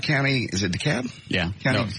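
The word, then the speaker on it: DeKalb: that the cops in daab county is it daab yeah count you don't pronounce the L George had a AR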